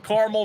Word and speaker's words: Carmel: that's called caramel or is it pronounced caramel I got to know I pronounced carel careli it's not caramel the big debate of Carmel versus caramel tell us about Carmel